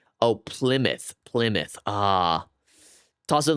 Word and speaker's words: Plymouth: No, the I is pronounced how it is in hit. Oh, Plymouth.